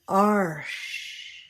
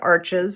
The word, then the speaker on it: Arches: pronounced differently recently, so I'm going to say arsh. That's the pronunciation that I've been hearing lately. I've always called it arches. I think either way we know what it is. Arsh or arches.